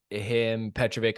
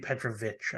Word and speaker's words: Petrović: So yeah, it's Đorđe Petrović, I believe. I think it's an itch at the end.